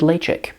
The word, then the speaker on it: Ledaig: me know down below have you tried lay chick did you know that that's how you pronounce it should i do a